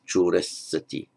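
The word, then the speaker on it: corissati: Look here, we have the consonant cluster, double S, so it's pronounced short, choressati, choressati.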